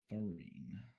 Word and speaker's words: Faryne: By the way, guys, Farine is Faryne. Farine. That's how you spell it in Elvish.